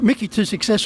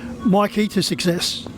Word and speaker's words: Mikey to Success: That win came courtesy of Mickey to Success, although the owners are now wanting it to be pronounced Mikey to Success.